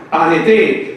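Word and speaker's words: ἀρετή: Arete. Pero que en vez de ser como arete, ¿está dónde? La pronunciación de la palabra, la última es arete.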